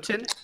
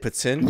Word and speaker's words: poutine: Is that how you say it? Putin? Wait, that's how you say it? Poutine? Yeah, right. Yes. What the fuck? That's poutine. Yeah, same.